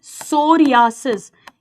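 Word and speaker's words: psoriasis: सोरियासिस इसमें P silent है and vitiligo इन पर क्वेश्चन आया हुआ है।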